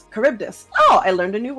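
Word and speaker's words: Charybdis: oh thank you nii it's pronounced caribdis caribdis oh I learned a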